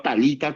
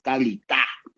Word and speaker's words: Talitá kumi: Mal pronunciado Talita Kumi, no es Talita, es Talitá. La tilde está en la...